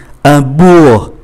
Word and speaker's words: bourg: Ký tự kế tiếp là ký tự G, un bourg, chúng ta phát âm từ B, O, U tới E là chấm dứt, không phát âm ký tự G.